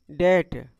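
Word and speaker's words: debt: Silent हो जाएगा। इसको हम क्या पढ़ेंगे? डेट।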